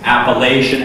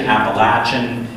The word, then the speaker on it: Appalachian: hazen at wbu that across the region people pronounce it in so many different ways appalachian appalachian apple uh i can't do this one apple lashon or something i mean there's there's a